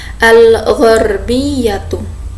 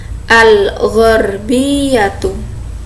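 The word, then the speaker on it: الْغَرْبِيَّةُ: Barat dalam bahasa Arabnya itu ada al-gharbiyatu. Oke, al-gharbiyatu. Oke, sekarang kita ucapkan bersama-sama, al-gharbiyatu. Nah, jadi di sini ya dia ghin, iya-nya ada ya tasdid. Jadi agak bacanya agak ini ya, ditekan, al-gharbiyatu.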